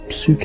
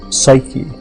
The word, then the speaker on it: Psyche: That's something that that it was given a name and the name was suk in Greek. Psyche uh is how we pronounce it now and the word means